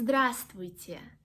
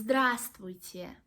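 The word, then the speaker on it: Здравствуйте: this word please it's dressed with you it's dressed with you actually it's not so hard as actually it is not so hard as it can seem because we do not pronounce this letter it is well in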